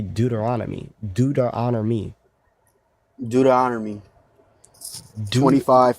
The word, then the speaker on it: Deuteronomy: You could say Deuteronomy. Deuteronomy. Deuteronomy Deut 25, 5 through 10. Say Deuteronomy. Say do to honor me.